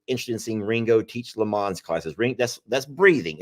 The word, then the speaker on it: Lamaze: Yes, and someone is so interested in seeing Ringo teach Lamaze classes. That's breathing. Am I saying it right? Lamaze. Lamaze. Lamag? Maz. M-A-Z-E. Lamaze.